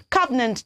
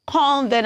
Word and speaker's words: covenant: Covenant very good so we don't pronounce that word as convenient I don't know where we get the N from I really do not